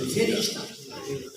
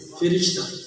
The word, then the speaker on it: فرشتہ: یاسین کی تلاوت سنی, فرشتے فاضل کے زیر پڑھیے کہ تلفظ درست ہے. فرشتہ کی لفظ ہے فرشتہ, فاضل کے زیر فرشتہ. اگر زبر پڑھ گئے تو تلفظ غلط ہے.